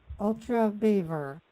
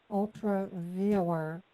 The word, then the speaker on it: UltraViewer: Ultra Beaver. Ultra Beaver. I have Yeah, can I spell it for ultra, you? and then beaver, like the animal. Like a viewer, Oh, viewer. VIEWER. Okay, you pronounce viewer kind of awkwardly.